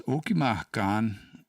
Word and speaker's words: Okima: But I don't I'm going to flag that and ask Wes about it because I think um does Okiman have a long a in it?